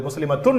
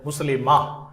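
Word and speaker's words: مسلمة: இந்த வார்த்தைகளை உச்சரிக்கின்ற பொழுது முஸ்லிமத்துன் என்று சொல்ல மாட்டோம் முஸ்லிமா முஃமினத்துன் அல்ல முஃமினா சாலிஹா என்பதைப் போல அடுத்ததாக வாக்கியம் அவன் முஸ்லிம்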